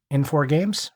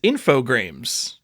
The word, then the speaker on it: Infogrames: M4 Games, right? Am I wrong? Infogrames. I got this wrong as a kid too, but as an adult, Infogrames? It is Infogrames.